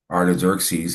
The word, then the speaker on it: Artaxerxes: to lay hands of the how do you pronounce that again? The Um, Art Artaxerxes. Artaxerxes upon them.